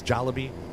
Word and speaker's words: Jollibee: I just don't keep saying it wrong it's jollybee Maddie says it sounded decent but it looks